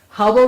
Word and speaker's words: Hubble: was Ray Ellen Hubble Hubble rhymes with trouble are you following me